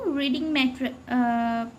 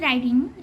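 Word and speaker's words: riding: Actually is রাইডিং, এটা উচ্চারণ করতে গেলে আমার রিডিং হয়ে যায়। রিডিং মানে কি? রিডিং মানে পড়া, রিড থেকে রিডিং। ওকে, নাউন ফর্ম, তো উচ্চারণে প্রবলেম হয় আর কি, এটাই। তো এটা রাইডিং, ঠিক আছে।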